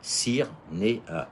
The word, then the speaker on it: Cyrnéa: Alors, à Cyrnéa s'écrit C-Y-R-N-E-A. Cyrnéa. C'est très simple.